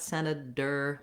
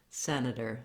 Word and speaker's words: senator: dropping right back down so it's not a hard D not Senator but Senator Senator you can learn more